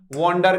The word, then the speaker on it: wander: एक बड़ा प्यारा वर्ड है और वो क्या है, वॉन्डर करना, WANDER। दोस्तों इसको आप वॉन्डर होगा प्रोनाउंसिएशन। ठीक है, घूमना होगा, यूं